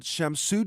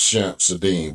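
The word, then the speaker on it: Shamsud-Din: L divit authorities identifying the suspect as 42-year-old shamsu djabar a us-born citizen and army veteran from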